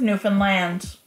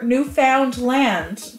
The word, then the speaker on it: Newfoundland: the Northeast we have the island of Newfoundland or Newfoundland or Newfound land depending on where you're from and how you're pronouncing it but here in Cape Breton we call it Newfoundland anyway I digress but